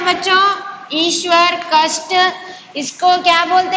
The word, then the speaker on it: ईश्वर: ईशावर. Not ना. ईशावर नहीं है ना. Yes, ईश्वर. हम लोग बोलना है ईश्वर.